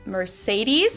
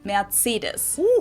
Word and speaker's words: Mercedes: most Americans called this Mercedes Mercedes in German we pronounce it Mercedes so Mercedes Mercedes Mercedes